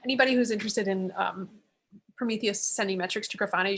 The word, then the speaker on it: Prometheus: work on the premier uh prises hope I pronounce it right so these are a monitoring framework uh Prometheus Prometheus yes exactly so on kubernetes and they I